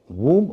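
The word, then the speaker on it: womb: तो डब्ल्यू ओ एम बी या टी ओ एम बी आखिर में बी का उच्चारण तो नहीं होगा क्योंकि एम के बाद बी है और शब्द के आखिर में है। लेकिन ओ का उच्चारण यहां पर उ होता है।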